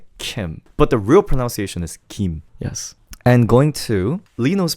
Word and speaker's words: Lee Know: It's closer to R, if that makes sense. Did you know that L and R doesn't have a big difference in Korean? We use it as a one character. So there's no difference between Lino and Reno. It's somewhere in between the two.